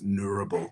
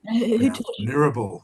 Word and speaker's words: Ngarabal: For ages, a lot of us have been saying it wrong, but it's Nurrabil, spelled Ngarabal. But Nurrabil, the Nurrabil people.